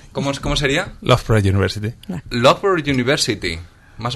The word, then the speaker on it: Loughborough: Loughborough. ¿Cómo sería? Loughborough University. Loughborough University. ¿Más o menos lo he dicho bien? Sí. De hecho tiene varias pronunciaciones, ¿no? Para los locales es el borough.